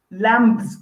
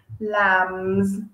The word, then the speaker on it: lambs: and some baby lamb lambs that's wrong okay you don't need to pronounce the b it is a silent b lambs so just pretend the